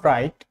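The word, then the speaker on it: write: Silent ডাব্লিউটা হচ্ছে আর এর আগে এবং কিছু ওয়ার্ডের শুরুতে, যেমন রাইট, রিঙ্কল, রিস্ট।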